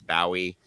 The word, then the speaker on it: Bowie: And then the Bowie, uh, that is the the Bowie is the proper Scottish pronunciation. I get a lot of flack for it, but I swear to God, uh, it it's Bowie, and, um, and I'm sticking to it.